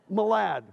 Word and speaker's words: Malad: And then we did see Malad, you pronounce it Malad? Malad, okay?